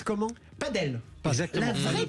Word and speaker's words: padel: C'était intéressant, ça prononce comment? Padel. Exactement. La vraie prononciation, c'est padel.